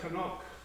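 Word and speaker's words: חנוך: in chapter four we we pronounce it enoch in our english language but it's really canuck conoco in the in the hebrew and that's the same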